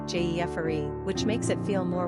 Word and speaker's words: Geoffrey: Number of syllables, 3. Ranking popularity, 629. Pronunciation, Jeffery.